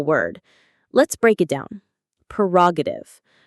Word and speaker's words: prerogative: Perogative. Pre-roative. The stress is on the second syllable. Ra.